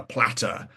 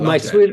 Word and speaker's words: Platter: Thank you for that wonderful Germanic pronunciation, Dan. I have to say, I just English go straight for Platter, and you're like Yeah, that's well, Platter.